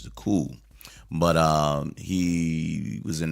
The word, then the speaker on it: Coup: group called the cool it's spelled a cou P so people said oh the coop you know it's not the coop it's French the cool but uh he was